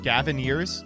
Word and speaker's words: Gavinners: It rhymes with pioneers? Gavinners?